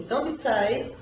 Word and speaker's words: Zombicide: É estranha essa pronúncia, na verdade. Site deveria ser com essa. Enfim, Zombicide.